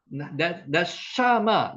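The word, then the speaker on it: נשמה: 니 샤맛 네샤마 네샤마 네샤마 여기 에 앞에 오면 에 발음이죠.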